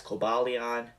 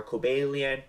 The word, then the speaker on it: Cobalion: reviewed the Victini movies I pronounced their names as Cobalion Tron and Verizion when reality their names are calian Terian and verian this seems to always